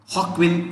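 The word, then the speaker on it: Joaquin: where the title role joker was played by hawkwin phoenix hawkwind spent j with an h okay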